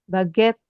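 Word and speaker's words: baguette: kit bag itu kan Nah ini t e 2T baget e e ini di belakang enggak kebaca sampai baget aja kebacanya ini kafe kemudian ini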